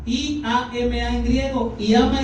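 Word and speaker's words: ἴαμα: Sanidad se escribe así, iama, I-A-M-A en griego, iama, y significa curar, sanar, tal y como suena.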